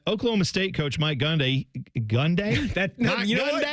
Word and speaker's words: Gundy: do that uh Oklahoma State coach Mike gundai gundai G you said it right guy with hair